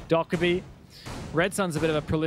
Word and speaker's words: Dokkaebi: Dokkaebi, I'm told. I keep saying it wrong. Dokkaebi.